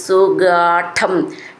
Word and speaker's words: സുഗാഢം: ഒരു സാ എന്ന് മതി സുഗാഢം ഠം എന്നുള്ളത് ട ട ഡ ഠ ഠ എന്നാണ് സു ഗാഢം അത് കുറച്ച് ഊന്നി പറയണം ചേർത്ത് ചൊല്ലുമ്പോൾ സ എന്ന്